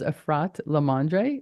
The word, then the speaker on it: Efrat LaMandre: if you know me I usually mess up pronunciation my name is arrat lamandre but after this moment just call me